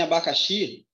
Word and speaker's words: abacaxi: E se eu pensar em abacaxi, por que abacaxi está errado? Abacaxi, a sílaba mais forte é o X. Eu tenho aqui uma oxítona.